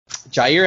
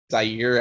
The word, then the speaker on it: Jaire: the show but um jair alexander i know he's one of your favorite packers currently um carlos can never say his name right it's always zaire alexander for some reason um but um you